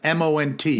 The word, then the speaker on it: Mont: Mount Megantic. Mont. They spell it up there, M-O-N-T. Mont.